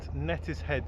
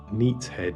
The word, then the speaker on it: Neatishead: Hana and today we are in Norfolk at nettis head St to paddle on the Norfolk broads here's